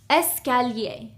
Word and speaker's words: escalier: The first one is escalier. This means stairs, okay? Escalier. The second one is ascenseur. This is an elevator. Ascenseur. Okay. Here we have 1, 2, 3, 4 syllables. Escalier.